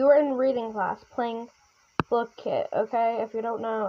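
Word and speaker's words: Blooket: start off, we were in reading class playing Book Kit. Okay, if you don't know, it's spelled B O O O K E T, but it's they say it's pronounced blue kit.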